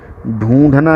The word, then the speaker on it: ढूं: देखिए, इसकी शुरुआत जैसे करेंगे, ढूंढना ही होगा समाधान। ढूं है, ढ के ऊपर बिंदी है, नाक से उच्चारण करते हैं, ढूं पढ़ते हैं।